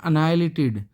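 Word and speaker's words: annihilated: अब देखिए दोस्तों यहाँ पर इस वर्ड का प्रोनाउंसिएशन देख लीजिए, यह है अनाइलेटेड, एच प्रोनाउंस नहीं होगा, तो ये क्या होगा, एच साइलेंट रहेगा, तो यह है अनाइलेट, कंप्लीटली अनाइलेटेड हो जाएगा ये।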